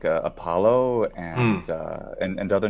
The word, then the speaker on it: Apollo: taken away in Latin such as Apollo Apollo with a long o at the end I can hear that's